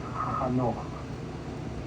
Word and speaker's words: Hanoch: In Hebrew, it's Hanoch. Hard to pronounce, Hanoch. We call him Enoch in English.